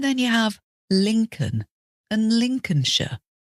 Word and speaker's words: Lincolnshire: you have Lincoln and Lincolnshire this is like Abraham Lincoln US president l i NC o l n with that one you just pretend the L isn't there and some British place